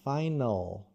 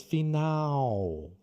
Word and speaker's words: final: Tem também essa palavra em inglês que é final, final. Mas em inglês, final. Porque ele no final, você não fecha, você deixa aberto.